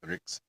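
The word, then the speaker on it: Ṛk: All these 9 Riks must be repeated. And when I say Rik, it's because it's spelled R with a dot under it, K. R is the vowel. Don't ask. As in Rig Veda.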